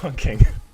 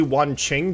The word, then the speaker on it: Wanqing: Pretend that's Wong King. Yeah, Wong King's also another example of an operator I refuse to pronounce correctly because his name is probably Wanqing, but that sounds really racist